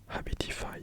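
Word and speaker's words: Habitify: pas longtemps j'ai installé une application qui s'appelle abitify donc ça s'écrit h A B i t i f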